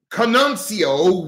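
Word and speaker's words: Conceição: Allow me to pronounce that, please. C-O-N-C-E-I-C-A-O. The Santa Maria de Canuncio with the I silent.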